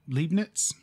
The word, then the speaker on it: Leibniz: In the 17th century, there were independent scientists that discovered calculus, like Isaac Newton and Gottfried Wilhelm Leibniz.